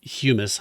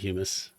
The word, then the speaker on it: humus: I think it's pronounced humus. Hummus is the food, right?